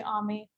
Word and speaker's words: Ami: It's actually my name is actually Ami, but it's spelled like Amy.